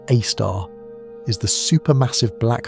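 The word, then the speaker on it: A*: Sagittarius AAR, pronounced AAR, is the super massive black hole at the center of our galaxy.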